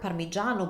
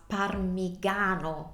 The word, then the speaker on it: parmigiano: in the sentence in the word parmigiano by you're saying that word would read as parmigano in Italian if you want to say parmigiano you need that I in the spelling so let's see why